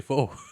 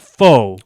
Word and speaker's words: pho: So you should say pho. But so okay, so that's not the word though. It's just because it's spelt PHO. Yeah. And if you are a ignorant American, you're going to call it faux Or Canadian.